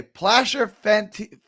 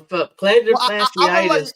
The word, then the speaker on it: plantar fasciitis: Placer fenti. I can't ever say this. Placer. I can't say it. How do you say? Yeah. Fasciitis. Planter. Okay. Well, planter fasciitis.